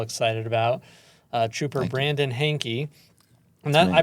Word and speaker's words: Hainke: guest we're all excited about uh Trooper Brandon hanky and that I pronounced that correctly right you got it Hank